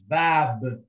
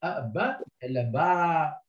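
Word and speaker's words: باب: So it is bab, bab. This is silent, and this is elongated movement. Like it's not only ba, ba.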